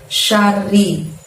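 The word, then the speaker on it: شر: Di ayat ketiga, keempat, dan kelima masih ada lafadz min syarri. Dan cara membacanya masih sama. Mingnya itu dibaca samar dan dengung, syanya pendek, bunyi R-nya double, lalu bunyi ri-nya juga pendek ya.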